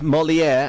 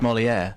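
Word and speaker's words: Molière: um at number eight molier and Matthew says s could you tell Dr ker that molier is pronounced to rhyme with where what how was I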